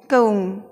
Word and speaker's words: Comb: इसको हमें बोलना है कऊम, बी साइलेंट हो जाएगा और आवाज़ रहेगी कऊम की।